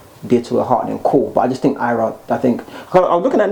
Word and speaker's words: Ayra: and only Ayra, and that's how they pronounce it from now, Ayra, not Ayra.